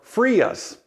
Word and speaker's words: FRIA: FAA Recognized Identification Areas, or FRIAs. That's how the acronym is pronounced.